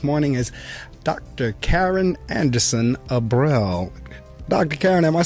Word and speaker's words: Abrell: is it aell yeah it's Abel so like April the month ah April there we